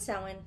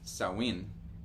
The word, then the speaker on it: Samhain: and Samhain and all those other random things.